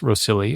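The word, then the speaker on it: Rhossili: on the Gower Peninsula I think it's pronounced rosilli although I can ever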